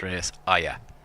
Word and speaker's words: Shreyas Iyer: Shreyas Iyer is how you pronounce it. Shreyas Iyer.